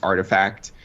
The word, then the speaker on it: RTFKT: You know, there's this the RTFKT Studios. It's actually pronounced Artifact.